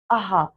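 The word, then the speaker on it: अः: पढ़ा था इसे हमने अहा पढ़ा था है ना क्या पढ़ा था इसको हमने अहा पढ़ा था क्योंकि इसको अहा था इसीलिए इसका उच्चारण भी आहा ही होता है किंतु इसे विसर्ग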